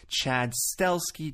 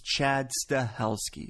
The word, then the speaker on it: Chad Stahelski: Wick chapter two by himself I'm talking about Chad stahelski some people say Chad steli Chad stalsky it's Chad stahelski so you're going to be hearing that name